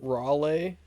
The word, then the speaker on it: Raleigh: really yeah I don't even know how to pronounce this name okay well I won't get it then what is it Raleigh oh Raleigh Raleigh I knew that God damn